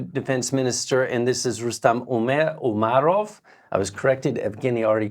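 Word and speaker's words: Rustem Umerov: nominated a new defense minister and this is rustam umarov I was corrected Afghani already corrected my pronunciation uh he is of Crimean Tatar descent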